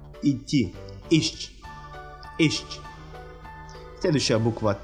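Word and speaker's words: iść: Следующая буква «с» с креской читается как «щ». «Идти». «Ищ».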